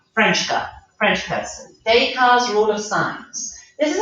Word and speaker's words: Descartes: and with this we're gonna look at you pronounce this name deca french person descartes rule of science this is actually quite useful